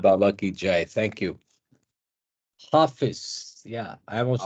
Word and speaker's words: Hafiz: Hafiz. Hafiz. Tar Okay. Meher Baba ki Jai. Thank you. Hafiz. Yeah, I'm also Hafiz. struggling to remember to pronounce it like that every time.